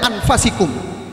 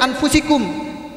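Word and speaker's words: أَنْفُسِكُمْ: Akum rosulum Min anfusikum kalau yang perfect pembacanya anfusikum yang kedua bacanya Alfa siku yang benar tuh bacanya anfusikum tapi inian fasik Um hanya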